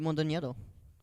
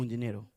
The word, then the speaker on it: Mondoñedo: it's like That sounded Mondoñedo. good, though. Mondoñedo. Like, Mondoñero.